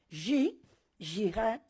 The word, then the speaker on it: yihad: entrado la palabra yihad, escrita con Y, no es cierto, porque es una Y o una J, que se pronuncia jihad, y lo han entrado, primera parte, que critico.